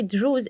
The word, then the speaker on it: Druze: That's why Druze is a nickname. We don't like this name. Yes, you know that That's story? True. Yes. Yeah. This is not, that's why I said it rhymes with Jews, because I know that